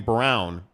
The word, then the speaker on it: Braun: Teddy, why do they pronounce his name Brown when it's spelled Braun? I thought it was Braun. Is it Brown?